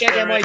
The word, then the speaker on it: Hamid: Nope, there's no R in that. It's Yes, H-A-M-I-D. there is. Hamid. Hamid, thank you. The man, and Yes, finally, that's how you pronounce it.